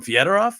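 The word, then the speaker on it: Fedorov: the only ones to call him fed off and he said that's the proper Russian pronunciation he was absolutely right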